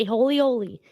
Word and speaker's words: Aholehole: A holy oli. It's spelled Holy.